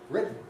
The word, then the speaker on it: written: And of course, in written, what you actually get in American English is a glottal stop, written. So, I mean, rather more than you do in British English. I say written with a nasal release of a T, but lots of